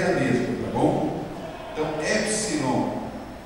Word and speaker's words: Epsilon: Então, Epsilon é o E na palavra especial, E, normal, Epsilon, E. Quando eu for ler, lerei E.